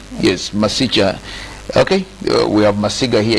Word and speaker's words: Masicha: Yes, Masicha.